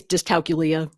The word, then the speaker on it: dyscalculia: It was I always pronounce it wrong. I'll say it's dyscalculia.